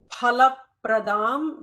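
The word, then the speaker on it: फलप्रदाम्: Bhaktabhishta phalapradam. There is no fa, as we all know. It is pha.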